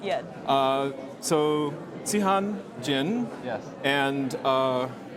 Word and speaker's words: Zihan: So Zihan, Jin, yes, and Xiaoyu, Hu. Yes.